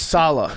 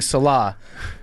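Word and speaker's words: Saleh: __ ] up in how to say his name. It's Salah. He's been saying Salah.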